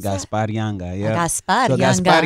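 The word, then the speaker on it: Gaspar Yanga: Is that how you pronounce Gaspar that? Gaspar Younga, yeah.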